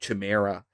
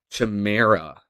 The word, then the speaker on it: chimera: It's some kind of like chimera, I guess. It's basically like a chimera, right? Wait, how do you pronounce that? How the heck do you pronounce this word, guys? Chimera.